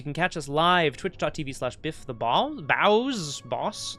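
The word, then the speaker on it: Bawss: Boss. It's boss. B-A-W-S-S. It's pronounced boss.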